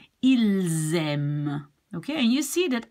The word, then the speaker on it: ils aiment: But since this starts with a vowel, you will be linking the S to the A. Ils aiment.